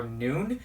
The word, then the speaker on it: Nuun: So my favorite right now are Nuun. It's spelled N-U-U-N.